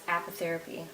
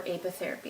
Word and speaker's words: apitherapy: combination of those is known as apitherapy or apitherapy as some people pronounce it I've got reversible tweezers